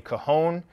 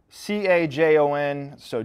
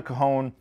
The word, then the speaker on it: Cajon: This is called a Cajon. It's spelled C-A-J-O-N, so don't make the mistake that I did and go into the Sam Ash in Richmond, Virginia and say, hey man, do you guys have Cajons?